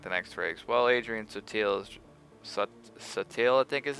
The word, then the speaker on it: Sutil: Well, Adrian Sutil is... Sutil, I think is his name. Not subtle, Sutil is something like it's got a weird pronunciation.